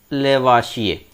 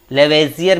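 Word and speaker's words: Lavoisier: हिंदी में इनका नाम देख लेते हैं, एंटोनी लॉरेंट डी लेवाशिये। लेवेजियर भी इनको कहा जाता है, कई नामों से लेवेजियर का उच्चारण किया जाता है।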